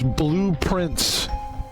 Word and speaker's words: Blue Prince: Today's game is Blueprint. It's not spelled like blueprint. It spelled like blueprints because it's a game